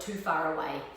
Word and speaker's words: Te Whare Ra: WH together in Maureen's pronounced like an F so you can call it too far away as a little trick